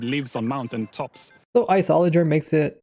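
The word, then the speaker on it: Iceologer: out with was the isoler. Now like I said I was pronouncing it wrong. I was pronouncing it isol cuz that's what it looked like it said but they pronounced it isoler.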